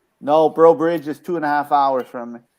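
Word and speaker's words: Breaux Bridge: How do you pronounce that place where you went to lunch? The city, Bro city. Bridge, Bro Bridge, yeah.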